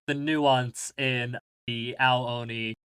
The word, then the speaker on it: Ao Oni: Is that how it's pronounced? Yep. Ao Oni.